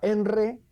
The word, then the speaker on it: ENRE: Antes teníamos el el de electricidad que se pronunciaba enre, el de gas que